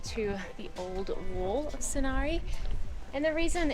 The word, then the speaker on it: Sighnaghi: Alright, we have come to Signagi, which is actually spelt sighnaghi, but pronounced Signagi.